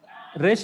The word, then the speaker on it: resh: No, for Hebrew alphabet, you have to pronounce Resh only.